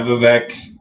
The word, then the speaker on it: Vivek: Yeah, Vivek.